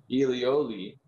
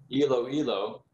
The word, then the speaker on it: Iloilo: village in the philippine province of elioli i'm sorry i mispronounced that iloilo president tuminas moved with